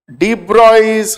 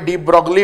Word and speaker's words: de Broglie: ডি ব্রয়স hypothesis, এটাকে অনেকে ডিপ ব্রগলি বলে, ব্রকলি টাইপের শুনতে, কিন্তু ডিপ ব্রগলি উচ্চারণ নয়, এর প্রোনাউন্সিয়েশনটা হচ্ছে হি ওয়াজ আ ফ্রেঞ্চ সায়েন্টিস্ট এবং প্রোনাউন্সিয়েশনটা হচ্ছে ডি ব্রয়।